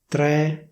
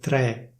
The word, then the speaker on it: tre: Next, according to the standard pronunciation, the number 3 should be pronounced as /tré/, that is: /uno, due, tre/. In Milan, though, people say: /uno, due, trè/.